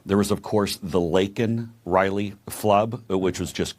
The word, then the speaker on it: Laken: says her name and he calls her Lincoln Riley instead of Laken Riley I'd be a winner